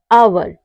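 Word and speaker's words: hour: आए तो हमारा एच जो होता है वह साइलेंट रहता है जैसे हो गया ऑनर इको ऑनेस्ट आवर इन सब में क्या है इन सब में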